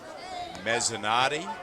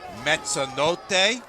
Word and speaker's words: Mezzanotti: Mezzanotti, or if you prefer the Italian pronunciation, Mezzanotte, which my friend Nick Martone, of course, knows means midnight.